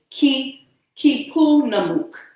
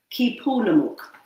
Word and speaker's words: Keepunumuk: So right in here, it has the pronunciations and it's KEEPUNUMUK. KEEPUNUMUK. All right. So that's the title of this book, KEEPUNUMUK, Weeachumun's Thanksgiving Story.